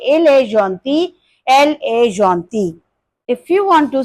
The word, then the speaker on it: gentille: In written English, spelling will be different, but the pronunciation will be same. You can say il est gentil, elle est gentille.